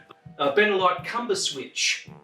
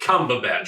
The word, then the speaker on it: Cumberbatch: patch butterscotch comfortable pants now we're going to turn the camera and say it right say his name right okay great one two three benedict cumberbatch you gotta do it